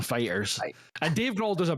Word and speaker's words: Foo Fighters: was like you know where's the accent is on food or Fighters and he's like oh it's actually on uh it's actually on Fighters and Dave Grohl does